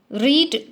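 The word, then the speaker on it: read: रीड का third form का भी स्पेलिंग यही होता है, सिर्फ प्रोनाउंसिएशन चेंज हो जाता है. तो प्रोनाउंसिएशन यहाँ होगा उसका रेड.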